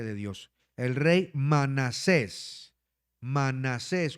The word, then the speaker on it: Manasés: Manasés con acento en la E. Manasés.